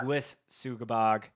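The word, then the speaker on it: Sanguisugabogg: So on the list that James sent me was I always never know how to pronounce his band. Sugabog. Sanguis Sugabog. Yeah. Sanguis Sugabog.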